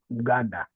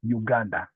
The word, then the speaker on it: Uganda: but now we put we don't pronounce the U as you pronounce in English. We just say Uganda instead of Uganda.